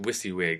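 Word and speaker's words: WYSIWYG: I wyg now you don't need and it's pronounced wiy wig it's totally weird acronym NOW you don't need to remember this weird wiy wig thing but what it stands for is what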